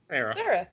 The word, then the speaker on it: Cera: Cera? Sarah.